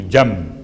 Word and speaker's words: جنب: جیم نون بے، چونکہ تجوید کے قاعدے کے لحاظ سے آپ کو تلفظ میں میم کی آواز محسوس ہوگی، جنب، حالانکہ جنب ہے۔ اس کا ترجمہ کیا ہے؟